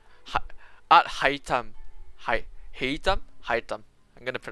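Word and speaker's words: Alhaitham: Oh, at Haitiham. Apparently the AL is supposed to be pronounced instead of Al. It's supposed to be like at Haitiham. Haitam. At Haitam.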